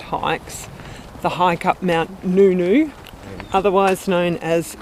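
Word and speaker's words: Ngungun: the hike up Mount Nunu otherwise known as gun gun actually correctly pronounced nunu the hike up Mount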